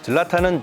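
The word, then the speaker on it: Zlatan: 젤라탄은 지과 히 중간 발음을 하는게 맞다고 현지 출장 갔을 때 현지인이 가르쳐 줬는데요.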